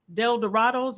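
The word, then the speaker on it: El Dorados: starting off i think you were with adult del dorado's is that how you say it okay yeah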